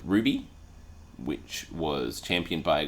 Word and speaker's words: RWBY: in the acronym r w y which is pronounced Ruby yes is Ruby the character's name spelled r